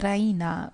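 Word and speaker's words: Raina: she pronounces it the Rena with the stress on the E Rena she goes to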